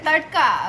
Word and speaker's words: tadka: Tadka.